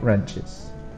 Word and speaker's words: wrench: new sizes of socket wrenches please remember there is a w in this word that you don't pronounce Vice or bench vise